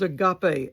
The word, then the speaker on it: agape: The normal word for love in the Greek is agape, A-G-A-P-E. That's how we spell it in English.